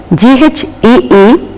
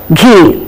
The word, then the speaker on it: ghee: what is written here G is not aspirated most of us because of the influence of the mother tongue because H is there we tend to say G please remember it is not ghost ghee but it is Ghost and ghee we have to say it in a plain and lighter manner not in a stressed aspirated manner I repeat there is